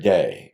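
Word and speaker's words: δεῖ: must be it's from the Greek word day Dei is the way we would spell that in English and it is a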